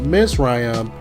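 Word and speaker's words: מצרים: bondage also the word egypt which is pronounced miss ryam is referenced as the physical land every time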